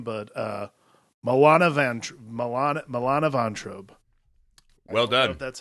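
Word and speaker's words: Milana Vayntrub: butcher her name but uh moana ventr milan milana von trobe well done that's how you say it i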